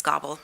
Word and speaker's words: Goebel: We have crime analyst Goebel? Okay, you'll have to help me with the pronunciation on that one, and Lieutenant Claudio Lasacco. Welcome. Hi, good evening. Like you said, my name is Gobble.